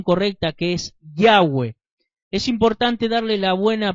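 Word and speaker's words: Yahweh: hebreo o hebreo araico la bab se pronuncia como u y no como B la letra W es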